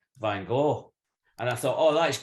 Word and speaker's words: van Gogh: yeah you you've captured van gaal is it bang off you have to sound like you're about to spit a lot of flame out i think that's the